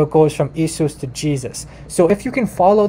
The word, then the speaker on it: Jesus: So in German, the J is actually a Y. So Jesus, okay, in German, this is how you pronounce it, Jesus. Well, maybe not an identical pronunciation, but I'm trying. So you have, like, the Y, and it's a Y sound.